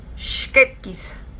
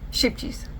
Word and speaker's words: Scheepjes: That particular one is made with the Dutch brand that I can never pronounce, Scheepjes. But we usually say here, Scheepjes, which I know that is not correct.